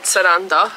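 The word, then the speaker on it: Sarandë: so Randy surrender it's it's spelled Salon day but it's said saranda yeah I think and we're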